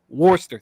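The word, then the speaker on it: Worcester: one walk at a watch how do you pronounce it Worster thank you AAA warster forwarding six hits one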